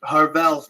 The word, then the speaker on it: Harvell's: It's Harvell's, my friend. Harvell's. That rhymes with Carvel.